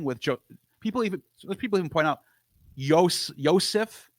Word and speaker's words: Yosef: So you could see there's like some euhemerization happening with people even point out Yosef. That's how you say his name in Hebrew.